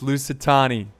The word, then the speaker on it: Lusitani: Oh my god, it's Lusitani. Thank you.